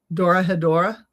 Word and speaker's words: Dorohedoro: it on Netflix, and it's Dora Hedora, and that's spelled Dorohedoro, and it's really a fun show.